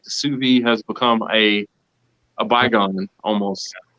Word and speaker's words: Suvie: It's called sous vide, and they spell it like SUVIE, sous vide.